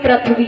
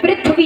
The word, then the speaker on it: पृथ्वी: ज्यादातर लोग अशुद्ध उच्चारण करते हैं, पृथ्वी बोलेंगे, पृथ्वी, पृथ्वी नहीं होता है, पृथ्वी होता है।